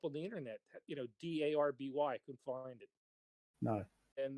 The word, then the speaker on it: Derby: the internet you know d-a-r-b-y couldn't find it no and they said do you mean d-r-b-walk that's derby there's they pronounce it darby where's the a in d-e-r-b-y well it's the name